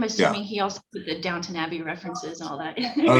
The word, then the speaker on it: Downton Abbey: But I love the fact that everybody keeps mistaking him for a character in, as they put it, Downtown Abbey. Yes, I did. Who pronounces it right is Svetlana, who refers to it as Downton Abbey.